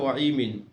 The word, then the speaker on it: women: ওয়াইমিন। অর্থাৎ আমরা WOMENটাকে আমরা ওয়াইমিন বলতে পারবো, এবং দুই পাশে কিন্তু স্ল্যাশ দেওয়া আছে।